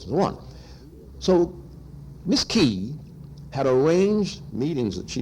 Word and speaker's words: Kay: So in Vietnam, in Saigon, and I want to give compliments to this very brilliant young woman, Catherine, K-A-Y, pronounced Catherine Key, however, pronounced Key.